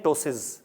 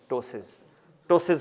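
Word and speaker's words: ptosis: इसको हम कहते हैं टोसिस। क्या कहते हैं? टोसिस। पी साइलेंट है इसमें, इसका जी टोसिस।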